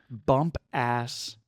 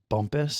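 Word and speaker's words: Bumpass: It looks like it's pronounced It's in Virginia. Bump ass. Bump ass Maryland or Virginia. I'm sorry. Bump ass Virginia. I'm sure it's pronounced bumpus.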